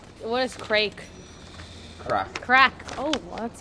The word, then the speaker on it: craic: Crack. Crack. Oh, well, that's spelled Have you heard?